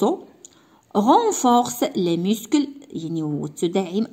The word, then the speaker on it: os: هنا ما نطقوش هاد الاس هادي les os.